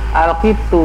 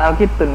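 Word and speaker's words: القط: Al-qitu bukan al-qitun ya, al-qitu.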